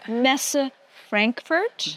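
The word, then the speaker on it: Messe Frankfurt: cyos 2025 will be hosted at am I pronouncing this my German is not that great Messa Frankfurt very good oh thank you well I I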